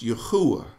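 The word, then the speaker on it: יהוה: And it's pronounced Yahuwah. I know some say Yahweh, but remember, if you say a W, pronounce a W, double U. Double U. It's two U's. Makes a U sound.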